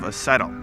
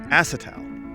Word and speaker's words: acetal: made out of umhw they're made out of acetyl you think that's how you say it actually john it's pronounced acetal evidently you failed english when you were in